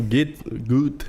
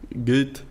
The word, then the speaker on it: Goethe: O maior autor alemão, o Goethe, é assim que pronuncia, né? A gente fala Goethe, né? Goethe.